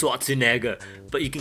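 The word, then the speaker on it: Schwarzenegger: a stars a n-word it's pronounced swazinaga but you can call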